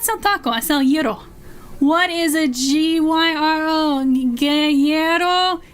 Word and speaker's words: gyro: Yes, by the way, for anyone that doesn't know Greek, it is gyro. But if you cannot pronounce that, I don't expect you to be able to. You can call it a hero. Don't call it a gyro.